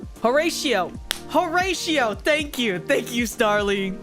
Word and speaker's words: Horatio: Horatio.